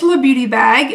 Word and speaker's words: LaBeautyBag: Well, it's LaBeautyBag. L-A are my initials, so I used L-A and pronounce it la, like the, which is the in Spanish or French or something like that.